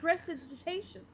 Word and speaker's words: Prestidigitation: Prestidigitation. Yes, that is the correct pronunciation of Alright the then.